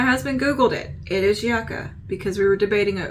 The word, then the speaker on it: Yucca: palette I swear I'm I hate that it is pronounced yaka but me and my husband Googled it it is yaka because we were debating it over Yuka or yaka because Yuka